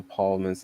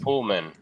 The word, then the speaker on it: Pullman: It uh I would say this is one of Bill Paulman's uh best performances. Pullman.